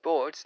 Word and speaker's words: Brot: Okay, so it's pronounced Bort like lightning bolt.